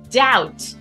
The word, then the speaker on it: doubt: of that initial k doubt is our third one we don't pronounce that b like many other of our words that b is silent maybe the hardest of